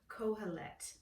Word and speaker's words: Kohelet: a moment, if I can remember how to pronounce it. It's called Kohelet. Okay, so if we turn to the book of Ecclesiastes, Kohelet, K-O-H-E-L-E-T, and we're trying to figure out, why